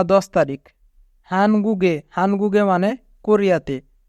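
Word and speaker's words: 한국에: হানগুগে, হানগুগে মানে কোরিয়াতে। এখানে বাচ্চিমের পরে ইয়ং থাকার কারণে বাচ্চিমটি ইয়ং এর স্থানে যাবে, তাই উচ্চারণ হবে হানগুগে।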